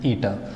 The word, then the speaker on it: eta: It is pronounced as eta.